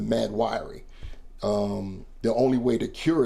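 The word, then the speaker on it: Mahd Wy'ry: They thought that she was suffering from an eternal mental illness called the Mad Weary or Wiry. It's spelled crazy, but that's what it's called, the Mad. I will call it the Mad Wiry.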